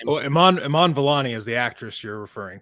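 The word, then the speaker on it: Iman Vellani: do you guys remember or know how to pronounce her name well Iman Iman villani is the actress you're referring to yeah yeah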